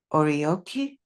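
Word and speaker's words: oryoki: I was a server for formal orioki. Is that how it's pronounced?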